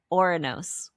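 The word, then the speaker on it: Ouranos: Where did I say Arnos? Because it's A-U-R. It's Oranos. Is that how you would pronounce that? Yeah, I think so.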